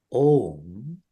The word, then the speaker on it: Om: Now, opening this up more, Om is made up of 3 letters. 1 syllable, 3 letters. Those 3 letters are A-U and M.